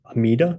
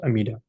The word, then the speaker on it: Amida: So these two names come from dharmicures vows themselves and uh in short they are pronounced amida or amita. So that's why in Japanese Buddhism it's pronounced amida.